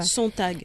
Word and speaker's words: Sontag: Je le prononce mal? Non, c'est exactement ça. Sontag.